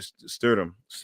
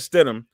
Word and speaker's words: Stidham: and and and and Jerry stood him like I said it says said his name wrong Jared said em yeah so Jared Stidham who actually had some